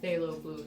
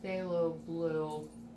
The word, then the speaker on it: phthalo blue: to buy art supplies stay low it's spelled with a P at the beginning this is the time P th and I well I don't